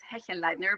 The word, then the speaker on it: Hechenleitner: to be here uh my last name is Heen Lightner but it doesn't really matter everybody pronounces it a little bit differently and I have gotten